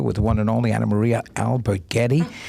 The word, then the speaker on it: Alberghetti: at patrio theater with one and only Anamaria Albert Getty pronounce that so perfectly it really said it good